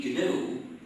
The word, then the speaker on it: GNU: don't you call it pronounce it if you pronounce it new you'll get people confused you see you seem